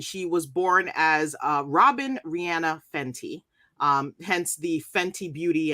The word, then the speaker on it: Rihanna: My selection is Rihanna, or I'm sorry, Rihanna, as I hear her pronounce it.